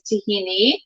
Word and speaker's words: tahini: exact term it's actually the greek pronunciation is tahini the arabic and israeli